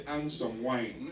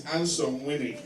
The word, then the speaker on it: Angsomwine: But if you pronounce it as an Englishman, you say "Ansome Wine." Because it's spelled ANGSOMWINE. How would you spell it? But Dagatis will tell you it's Ansome Winnie.